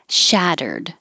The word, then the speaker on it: shattered: The T's changed to D's. The window shattered into a million pieces. And I should have put that little mark there to remind you if you just say the word shattered, you hold the D and don't release it. But if there's a vowel after it, now you'll hear the D as it releases to the I.